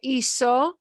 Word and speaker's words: hizo: Okay, so hice, hiciste, hizo, hicimos, hicistes, hicieron. You'll notice this is pronounced hizo with a s, an S sound, like hice has an S sound.